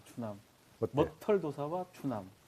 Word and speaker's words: 머털도사: 예, 머털도사님. 괜찮지. 오케이, 좋다, 지금부터 좋다. 구름도사가 아니라 머털도사. 발음 똑바로 하고. 머털도사. 뭐의 악센트.